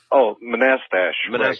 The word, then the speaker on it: Manastash: How do you pronounce the name of your town? Manastash? Manastash. Manastash. Right. That's right.